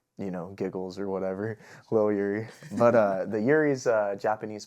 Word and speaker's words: Lil Yurei: So is your name little yur or is it little yuri? Lil Yuri, I guess, is how you would pronounce it. I mean, everyone it's I say Yuri.